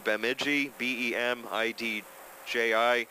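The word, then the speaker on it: Bemidji: whatsoever um but it's peox 1132 or 1132 beiji bem DJI Minnesota 56619 and you can say it too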